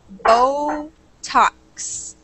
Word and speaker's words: Botox: one word for me it's Botox so we a really long o sound there for the first syllable B and then a short o for the second so Botox Botox perfect excellent so